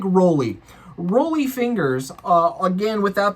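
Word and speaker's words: Rollie: Then we slide on into Satderg and we're going to have a little rolly fingers. Is that really how you pronounce that? Or is it Raleigh? I like Roly.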